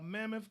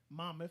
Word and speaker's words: Monmouth: ocean county 135 new cases one death uh mammoth county monmouth i always mispronounced that monmouth county uh we had 134 new cases one